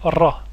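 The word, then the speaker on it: راء: Le deuxième groupe, avec la lettre ra, l'équivalent du R français mais roulé.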